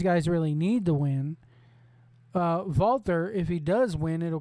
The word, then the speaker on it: Walter: Walter, or Walter, as he's commonly known as. You pronounce that W as a V, a Walter.